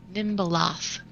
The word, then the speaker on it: Nimbaloth: The correct spelling and pronunciation, Nimbalath. Nimbaloth. Yeah, it's got a TH on the end.